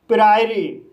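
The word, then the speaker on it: priory: इस वर्ड में पी को पढ़ा जाएगा। आर को र पढ़ा जाएगा। आई को आई पढ़ा जाएगा। ओ साइलेंट रहेगा। आर को रा पढ़ा जाएगा। वाई को इ पढ़ा जाएगा। इस तरह से इसे प्रायरी पढ़ा जाएगा।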